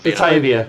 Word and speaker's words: Batavia: How do you pronounce that name Batavia. again? Batavia, that's it, yeah.